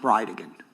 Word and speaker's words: Bridegan: It's Jared Gallen Bridgen. And I'll represent to you that it's pronounced Brideigan.